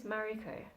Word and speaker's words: Mariko: Yeah, I think I've sort of combined a bit of the Japanese pronunciation with more Australian, like Western kinds of things. So ma is from the Japanese, mari. The ri is like, I've sort of taken the Japanese ri, mari, like, it's sort